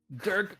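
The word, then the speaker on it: Dyrk: a Dirk Van Gant it's spelled D Y RK but it's not like people are G to spell it so Durk van Gant oh there goes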